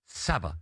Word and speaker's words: Sabah: And Sabah, rhymes with ABBA, away.